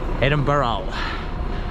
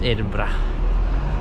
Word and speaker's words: Edinburgh: pronounce Edinburgh a lot of American people always pronounce it Edinburgh and if you say that in front of Scottish people though no Credence because it's just Edinburgh so just remember that when you're coming here